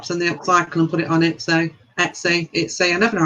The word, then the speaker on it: Etsy: and put it on Etsy. I never know how to say that. How do you say it? How do you say what? Etsy. Etsy. Yeah. Etsy. Yeah, you can do that. That's the one.